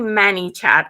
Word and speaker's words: ManyChat: about the audience so men it's actually Manny chat I kind of say it wrong m-a-n-y-c-h-a-t manychat Vivian you haven't